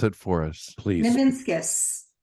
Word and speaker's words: Nivinskus: Nivinskus. Nivinskus. Just like it's spelled. Right, it is. It's phonetically correct.